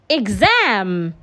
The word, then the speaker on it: exam: So because a vowel sound is a voiced sound, the X there will sound Gz. Unlike the other example where it sounded Ks. So we have example, exam, exit, exit.